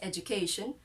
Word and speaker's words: education: it still says education the j sound not the d sound and not the the